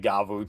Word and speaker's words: Gavv: work best for for gav or gav gavu I gotta start pronouncing it gavu technically I gota start getting